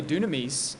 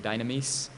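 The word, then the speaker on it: δύναμις: Incidentally, dunamis means power in Greek. It's the same word that we get dynamite from. I'm pronouncing it in the Koine pronunciation. Modern pronunciation might pronounce it dynamis, but it's the same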